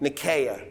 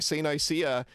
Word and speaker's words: Nicaea: Nicaea Um my understanding in Greek it's Nicaea with stress on the first syllable, but whatever.